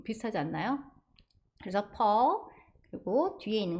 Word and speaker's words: Paul: 그래서 앞에 보시면 퍼 이렇게 발음하시는데 C자 거꾸로 된 발음 보이시죠? 거기에 강세가 왔고 PAU 하면 AU가 O와 어의 사이 발음이에요. 그래서 폴 아니고 펄 아니고 퍼 이렇게 발음해 주시면 되고 폴은 예전에 이상한 나라의